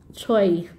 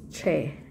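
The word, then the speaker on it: 최: noman ng ganito or pero ang pronunciation niya is Che so hindi hindi binabasa on as choy hindi siya binabasa as choy binabasa to as Che Yung mother in nak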